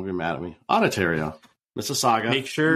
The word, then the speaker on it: Mississauga: Mississauga. Make sure. Mississauga.